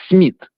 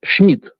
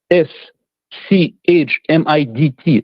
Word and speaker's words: Schmidt: Uh the the correct pronunciation is the Germanic way. It's not Smid, it's Schmidt. Okay. S C H M I D T.